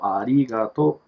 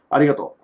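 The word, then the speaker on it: ありがとう: arigato but yet again there is no r it's pronounced as el so arigato arigato yeah a lot of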